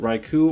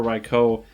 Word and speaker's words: Raikou: know their stuff that you could pronounce it raiku or raikou um and either one is fine but i'm just basing